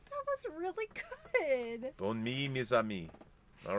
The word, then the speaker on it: bonne nuit: Bonne nuit. Bonne nuit. Nuit, mes amis. Bonne nuit, mes amis. That's pretty good. How's my accent? That was really good. Bonne nuit, mes amis.